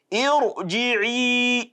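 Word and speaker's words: ارجعي: It will still be an open, a full mouth pronunciation. Irji'i.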